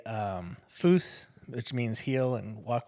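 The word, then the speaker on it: pfui: and walk with you you have to say it like an angry German like fo Yeah the more Angry you say it the more likely that they're going to listen Okay Okay uh fooy like no um I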